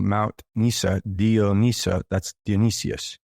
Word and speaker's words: Dionysus: And if you recall Mount Nysa, the god of Nysa, Mount Nysa, Dio Nysa, that's Dionysius, Dionysus. Dionysos. Depending on which culture you pronounce it from.